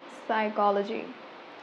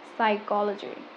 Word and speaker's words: psychology: So it is supposed to be pronounced as coop. Coop. Number two, cupboard. Cupboard. Psychology. Psychology.